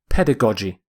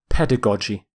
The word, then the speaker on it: pedagogy: The first G is hard, G. The second G is soft, J.